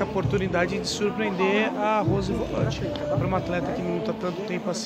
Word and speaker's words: Volante: não para a Rose Volante, ou Volante, como ela própria se pronuncia.